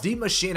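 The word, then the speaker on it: Die Maschine: of this map itself the machine i say it that way because that is as close as i can get to the original german pronunciation for this map name it's not said d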